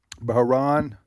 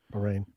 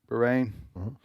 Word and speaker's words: Bahrain: Baharan, is that the way you pronounce it? Bahrain. Bahrain.